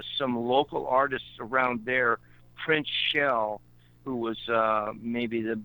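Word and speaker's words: Printz: Yeah, most people spell it P-R-I-N-C-E, but it was really P-R-I-N-T-Z. Prince. But he was known as Prince. And that was his first name was really Prince with a Z, but everybody spelled it and pronounced it Prince with a C-E.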